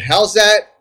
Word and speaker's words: Howzat: Kevin for the band now how do you pronounce it how's that that's right how's that how's that okay now